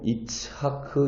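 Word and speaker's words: יצחק: 5분 더 인데 이 이삭에 히브리어 발음이 좀 전에 읽은 17절에 아브라함이 엎드려 온 했으며 할 때에 웃으며 와 각 춘 발음입니다 바로 이차크 입니다 비록 아브라함은 하나님의 말씀이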